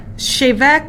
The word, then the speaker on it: Bheag: shim it she's avec shave it so there's no C or H or V coz it's Gaelic Gaelic so this is from Scotland it actually means a little lady but it um shave ik actually means a weed